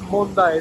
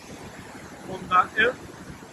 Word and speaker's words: Monday: Saltos Mondaé, se escribe Monday, no tiene nada que ver con la palabra en inglés. Viene del guaraní, Mondaé, muy bonito.